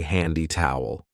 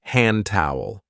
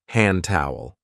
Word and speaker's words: hand towel: careful of the pronunciation we don't usually say handy towel we link it and say hand towel hand towel down there we have